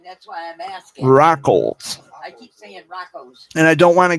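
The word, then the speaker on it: Raucholz: got roads out here rackles r-a-u-c-h-o-l-z rackles with the l yeah rock holes the l's not silent i keep pronouncing it wrong that's why i'm asking rockles and i don't want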